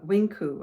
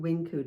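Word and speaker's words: Winq: So um Mirisol Wing, is it Winku? I think you say pronounce it Winku. W I N Q U.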